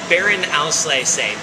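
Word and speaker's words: Beerenauslese: so that word troken means dry and then Baron Alay say b e e r e n a u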